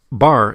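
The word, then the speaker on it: בר: letters bait resh is a word pronounced bar in hebrew and the meaning is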